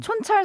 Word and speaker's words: 촌철: 제가 발음이 좀 살짝 안 좋다는 지적도 있긴 했는데 무슨 말씀. 그다음에 손철 아까 뭐 이런 거 아니고 촌철이에요. 촌철.